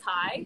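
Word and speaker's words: Tsai: correctly oh and like the proper chinese pronunciation it's like thai so kind of like imagine t-s-a-i like if we used english spelling if that makes sense oh no is it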